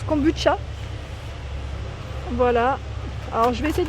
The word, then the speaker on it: kombucha: Donc là ils mettent truffe noire, thé noir, kombucha ça se prononce kombucha.